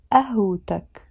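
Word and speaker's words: قهوتك: means your masculine together we won't pronounce it a way back we will pronounce it ah hoo tuck because the word away alone finishes with the tamer Jota which is usually silent we don't pronounce it wait when it's alone we pronounce it away but the moment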